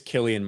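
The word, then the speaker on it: Cillian: basically yeah everyone's saying it's Killian Murphy hard C okay okay um Gremlin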